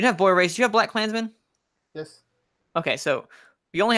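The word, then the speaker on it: BlacKkKlansman: Romo yes no and black Klansmen or black K Klansmen okay you don't pronounce the K in the middle okay I wanted to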